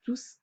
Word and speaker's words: tous: d'accor de ce dernier au masculin pluriel le s de tous est prononcé l'adverbe il est placé